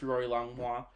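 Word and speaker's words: rorylongmua: social media so uh Instagram is r-o-r-y-l-o-n-g-m-u-a okay pronounced Rory longwa um just because that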